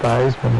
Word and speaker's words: Theismann: Theismann rhymes with Heisman.